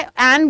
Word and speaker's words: Anne: के लिए, जिनका नाम एन मोर था, ठीक है। एन बोलिए, एनी भी बोलते हैं बहुत सारे लोग। स्पेलिंग है उनकी ANNE, ठीक है।